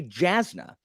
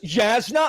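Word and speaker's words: Jasnah: So you mean when you read it the first time, before listening to Sanderson talk, you had no idea that this was pronounced like a Y.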